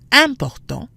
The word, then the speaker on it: important: Both start with IM, which we said tends to be pronounced un. However, the IM sounds different in the two words. Important, nasal, versus imaginer, not nasal.